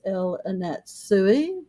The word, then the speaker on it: El Anatsui: And the artist is El Anatsui, which we had to look up, and we found that it was pronounced exactly like it's spelled.